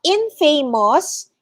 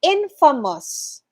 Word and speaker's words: infamous: correctly pronounced as well it's not infamous it's infamous infamous okay infamous it's not infamous if